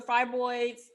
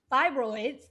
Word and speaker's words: fibroids: i think with the fry boys i keep saying fry boy it's all incorrectly i don't know i know how to say this word but fibroids the um i think